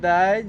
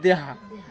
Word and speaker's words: দেয়া: প্রশ্ন যদি দেয় যে চাকমাদের পোশাকের নাম কি? তাহলে পিন ও হাদিম। মারমাদের পোশাকের নাম দেহা। দেয়া। উচ্চারণটা হবে দেয়া।